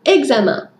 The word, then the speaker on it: examen: français ou toute autre matière c'est le mot examen voici le mot du jour la prononciation de ce mot à de petites particularités